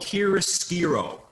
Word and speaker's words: chiaroscuro: This is a concept called chiaroscuro.